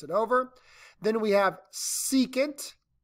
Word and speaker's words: secant: over then we have secant written with an SEC but we pronounce it secant it's just the reciprocal